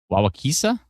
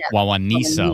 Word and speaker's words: Wawanesa: Wawakisa? Someone said I nailed it, but then this person's phonetically spelled it Wawakisa. I think they might have forgotten the N to create. The N. Oh, Wawanisa, like knee.